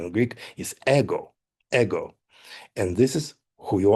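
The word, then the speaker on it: εγώ: Yes, you are the ego in Greek pronounce uh correct pronunciation in Greek is ego. Ego and this is who you are.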